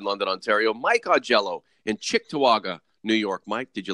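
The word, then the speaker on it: Cheektowaga: Norman James in London Ontario Mike aello in chick toaga New York Mike did you like that pronunciation uh yeah it's very good good morning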